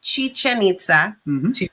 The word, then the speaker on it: Chichen Itza: school um super awesome stuff so it is pronounced chichen itza um i actually had the opportunity to go